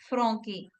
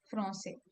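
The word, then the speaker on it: Français: If we have the word if we say Francais without the accent, then it will be okay. Which language is spoken in France? Franque. The Okay. Yeah. citizen or the nationality is Franque. So it sounds very different. It doesn't sound nice.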